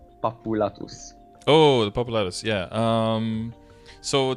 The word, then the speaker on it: Papulatus: I wait until I can get the Chaos Papalato? Until you can get the what? The Chaos, I have no idea how to pronounce his name. Papulatus.